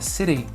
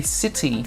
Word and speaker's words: city: In the UK, we would pronounce the T. City. But in the US, we would pronounce it like a D, like city. Can you hear the difference between city and city?